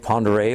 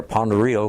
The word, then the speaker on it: Pend Oreille: was on located on Lake Pend Oreille or pond Rio whichever way you pronounce it they're in your name I think is pend oreille and I think the name most people said upon the real the Indians named Farragut